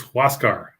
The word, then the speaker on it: Huascar: uh you know no it's it's huascar oh that's right it's a who asks yeah who else car what's god yeah what